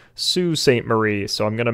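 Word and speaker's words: Sault Ste. Marie: michigan up to uh salt saint marie hey y'all this is editor alex i am editing this podcast right now and i have since realized that it is actually pronounced sue saint marie so i'm gonna mispronounce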